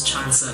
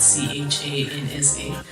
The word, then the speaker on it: Chansa: joke to people, because my name is Chansa, like it's spelled Chansa.